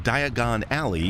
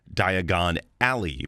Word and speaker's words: Diagon Alley: No, actually English considering Diagon Alley is a play on the English pronunciation of the word diagonally. This is why Harry mispronounces it because he spent most of his life as a normal Brit. An American would say Diagon Alley because our pronunciation of the word Alley uses the short a vowel sound. The English pronunciation is a homophone of the name Ellie.